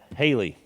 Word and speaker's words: Haylee: Yeah, I'll echo one of the comments that Haylee. I wanted to say Hallie. I knew I was going to say it wrong.